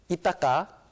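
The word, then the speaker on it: Ithaca: 코넬은 저기 이따까 그 미국식 발음하면 이따카인데 이제 한국식 발음은 이따까예요.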